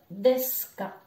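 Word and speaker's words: です: comme tout à l'heure le u ne va pas se prononcer donc on va dire desk on a le haut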